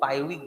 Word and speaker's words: पायरुविक: सो पायरुविक acid, इसको भी आर हम लोग साइलेंट रखते हैं, तो इसको हम लोग पायरुविक बोलते हैं, र उच्चारण नहीं करते।